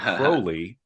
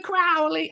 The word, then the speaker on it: Crowley: I'm retraining myself to say Crowley because apparently in a poem he rhymed his surname with unholy. So Right. it is Crowley. Of course, I want to say Mr. Crowley.